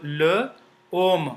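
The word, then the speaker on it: l'homme: the so l l l om om which means men so together they become LOM because as here is silent okay so LOM when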